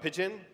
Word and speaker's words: Pyjion: we're here to talk to you about Pyjion, and it is pronounced like the bird, not Pyjion, Pyjion.